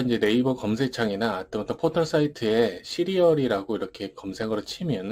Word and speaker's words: 씨리얼: 소개할 스튜디어 리아는 사이트입니다 발음은 시리얼 먹는 그런 이름인데 이게 c 이제보다 의